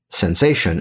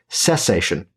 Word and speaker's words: cessation: You see, it's funny because it's not actually pronounced sensation. It's pronounced cessation.